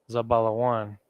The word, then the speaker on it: Zebulun: Guatemala Panama Guatemala to Panama and that is Za ba la one level one is a bottle of one again in the ancient Hebrew I'm sorry in the Assyrian Hebrew za ba one and then zabala one Isabella want Ephraim a power Young the Puerto